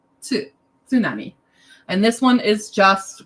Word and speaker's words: tsunami: see the word tsunami most people are like tsunami that is incorrect pronunciation it's tsunami tsunami and this one is just kind of like